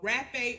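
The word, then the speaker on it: rapé: The next form of tobacco that will help you get in tune is called rape or half a. It's spelled R A P E with that little dash H and half A.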